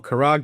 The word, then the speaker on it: Kharg: Let's also remember that Kharaj Island or Kharg, depending on how you pronounce it, which is their main